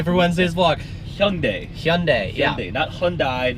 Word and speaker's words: Hyundai: today is Wednesday for Wednesday's block young day Hyundai yeah that Hyundai not Hyundai Hyundai pretty much everyone pronounces that last hour just one day you